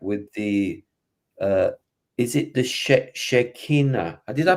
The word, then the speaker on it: Shekinah: So what we're saying is, during that period, reference to the ascension experience or contact with the is it the Shekinah? Did I pronounce that? Shekinah, yeah.